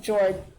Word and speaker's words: Fjord: It's FJORD. It's like Mjolnir, but okay. He thought of Jord, the first dragon Glorious